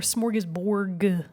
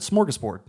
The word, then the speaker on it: smorgasbord: Or smorgasborg? Now you've got me questioning it. Right? I would have said smorgasbord. Smorgasbord. With a D.